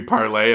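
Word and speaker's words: Parler: just for Republicans oh it's that parlor yeah yeah was clearly supposed to be parlay and no one can pronounce it yeah but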